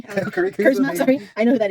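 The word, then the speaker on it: Kuzma: Kyle Curry. Kyle Curry. Kurzma, sorry.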